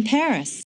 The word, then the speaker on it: Paris: of France live in Paris Wow so this is Paris I can't believe that I've never visited the capital of France before yeah well the locals pronounce it pari karremans conducted a lot